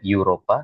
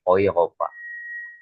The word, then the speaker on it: Europa: Nah, untuk E ini dibacanya O juga sama ya ataupun O. Nah, ini hati-hati ya. Jadi kalau misalkan dari mana ya? Oopa. Oopa menjadi Eropa tidak menjadi ee Europa tapi oopa ya.